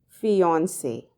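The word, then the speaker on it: fiancée: a woman who's engaged the pronunciation however remains exactly the same fiancee hence the globally accepted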